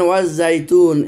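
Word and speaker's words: والزيتون: আবার দেখেন ওয়াজ জাইতুন, এখানেও কিন্তু লামটা উচ্চারণ হয়নি, আর শুধু আলিফটা উচ্চারণ হয়েছে। ওয়াজ জাইতুন, ওয়াও আর আলিফটা উচ্চারণ হয়েছে যার সাথে, লাম উচ্চারণ হয়নি।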